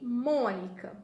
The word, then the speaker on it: Mônica: E Mônica, vamos separar em sílaba. Mo, ni, ca. Mônica, mônica. Qual que fala mais forte? O mo, tá? Então, o mo é a nossa sílaba tônica.